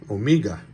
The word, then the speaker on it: Omega: Omega, that's the correct way to say it, they tell me. The head of the company says Omega, I guess that's what it is.